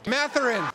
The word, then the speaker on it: Mathurin: Mathurin.